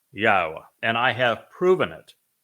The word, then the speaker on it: Yahowah: you emphatically that God has but one name and it is pronounced yaha and I have proven